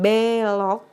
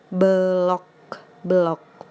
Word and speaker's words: belok: kanan nah seperti itu jadi pelafalan belok itu kan eh pengucapannya e belok batrenya harus pakai curek kalau enggak ada jeruknya itu pelafalannya blog-blog ini dia yang ketiga ada